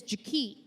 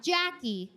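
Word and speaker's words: Ja-Kee': Her name is Jak. Not Jackie. Jie.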